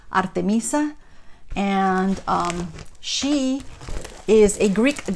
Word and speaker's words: Artemisa: So she's called Artemisa, and in Spanish it's I think pronounced Artemisa, and she is a Greek goddess.